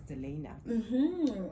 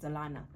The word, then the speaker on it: Delayna: It is because majority of the public know me as Delena, but my name is actually pronounced as Delana. So I just accept Delane as well because I can't keep correcting everybody.